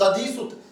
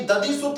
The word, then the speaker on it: दधिसुत: वापस दे दे, और दधिसुत, इस दधिसुत को जब भी आप पढ़ते हो दोस्तों, इसमें ऊ साइलेंट रहता है, उदधिसुत। और उदधि समुद्र का पर्याय है, और समुद्र का